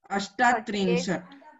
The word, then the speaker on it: अष्टात्रिंशत्: अष्टात्रिंशत्। यस इट इज अष्टात्रिंशत्। Okay अष्ट नहीं बोलना है, ठीक है।